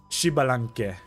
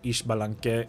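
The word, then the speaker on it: Xbalanque: I don't know what's the proper way to pronounce since I hear two different ways being tossed around such as ishbalank and shibilank. But for this one, I'll stick with what the VA say in the game.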